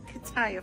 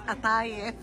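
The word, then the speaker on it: قطايف: It's not kataif, honey. It's atayif.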